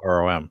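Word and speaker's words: Rhom: the laughs yeah well it's ro hm instead of ro M yeah but it's still pronounced ROM she's the one it's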